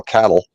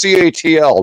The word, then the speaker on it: CATL: And the other big one is ATL, which here in Nebraska we call cattle. But I get people all the time that complain it's CATL, not cattle. And it's like whatever. We're in Nebraska. We pronounce it how we want, right?